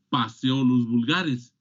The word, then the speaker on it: Phaseolus vulgaris: Esto no se pronuncia, no, se pronuncia Phaseolus vulgaris, porque no está escrito en español, está escrito en latín. Todos los nombres científicos están escritos en latín. Y en latín, la P y la H suena como una F.